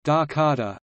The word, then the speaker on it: Jakarta: Jakarta, Indonesian pronunciation, Dakarta, officially the special capital region of Jakarta Indonesian, Daerah Khusus Ibu Kota Jakarta, is the current capital and largest city of Indonesia.